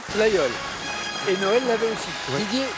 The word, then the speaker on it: Laguiole: terminée ou ce oui le laguiole ça s'écrit elles âgées et aux élèves mais on le prononce bien comme vous l'avez dit didier laguiole tout va se jouer